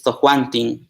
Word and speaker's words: tojuantin: Bueno, que cuando lo pronunciamos es Tojuantin con terminación N igual.